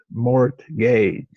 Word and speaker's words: mortgage: It's a two-syllable word, mort gauge.